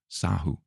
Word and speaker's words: Sahu: So don't use as Catherine or Cathy, but Cathysahu, Sahu. How else would you pronounce that?